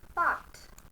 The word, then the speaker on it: part: Part, R is silent.